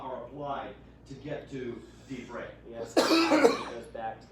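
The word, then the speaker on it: דברי: Both propertonic reduction and the rule of Shava are applied to get to divrei. Yes, it goes back to the second syllable because there's no third one since it's not.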